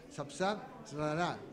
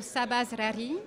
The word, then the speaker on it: Sabah Zrari: Y estamos con la doctora en ciencia política, la doctora Sapsab Rara. No sé si lo pronuncié muy bien, pero uno trata de ver,